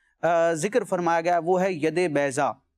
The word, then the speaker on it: ید بیضا: فرمایا گیا وہ ہے ید بیضا، ید بیضا، اگر عربی میں کہیں ضاد کی اس کا تلفظ لیتے ہوئے، ید کا معنی ہوتا